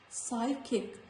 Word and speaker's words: psychic: Psychic, psychiatrist, psychotic, course, not cops, course. Before T also, letter P is silent, like receipt.